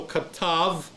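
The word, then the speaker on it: כָּתַב: the B does not, the bet doesn't have a dagesh leni in there, so it's pronounced as a V, a V as in victory, okay? So katav is where you're at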